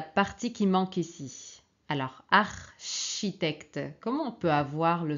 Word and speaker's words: architecte: qui manque ici alors architecte comment on peut avoir le son che en français ok alors c'est comme en italien mais on prononce che donc C et H très bien alors deuxième